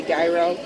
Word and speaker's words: gyro: He's getting the ultimate, and I'm getting the Euro. Yeah, how do you say that? The Euro. The Euro. I would say gyro pizza.